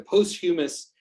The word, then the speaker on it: posthumous: read it more than say it, like the posthumous, right, where he said after death, whatever that, however you pronounce that word.